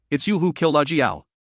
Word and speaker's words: Ajiao: TL, Ajiao is pronounced like Ajiao. Jiao is the name, A is just there as a prefix to make like the Japanese suffix John.